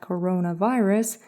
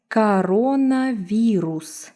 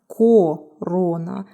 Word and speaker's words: коронавирус: Coronavirus. So pay attention to the vowel reduction rule. It's not corona, it's coronavirus. Coronavirus.